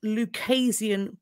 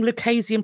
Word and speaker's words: Lucasian: Following his scientific understanding, I believe it's pronounced a Lucasian professor of mathematics. I think the word is Lucasian.